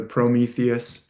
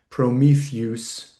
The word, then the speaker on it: Prometheus: god Zeus, Z EUS, that EU is actually a diphthong that makes this kind of oo or you sound like Zeus. So, it's really probably Prometheus, not two syllables, but altogether, same as Odysseus. But we often say Odysseus, Prometheus. We don't say Ze-us for Zeus, though. So, we we get that right.